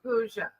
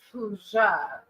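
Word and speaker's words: pooja: It's p o o j a. So I feel like it's puja.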